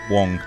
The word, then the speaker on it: Wang: Wang. Wong. It's spelt Wang, pronounced wrong.